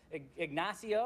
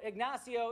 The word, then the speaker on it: Ignacio: I didn't look up how to pronounce this or how to say it, but Ignacio, I believe, is how you pronounce his name.